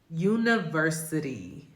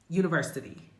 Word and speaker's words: university: So in this instance, we would use that flap T and I would pronounce this word university. University. You hear that? University. University. It's a fast D.